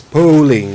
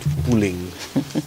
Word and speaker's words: polling: right there you go it's polling not pooling I don't know why